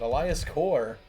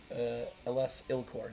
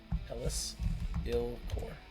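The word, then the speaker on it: Elas il-Kor: But Elias Core does fit in Abzan. Elis Ilcore. Never mind. I've been saying it wrong the whole time. Elis Ilcore.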